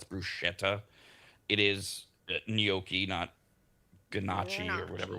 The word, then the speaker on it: bruschetta: It's not uh most Americans say brusqueta. It's not. It's bruschetta.